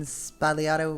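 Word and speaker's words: sbagliato: in it so the the g n spalliato we usually kind of swallow that when we pronounce it but then again the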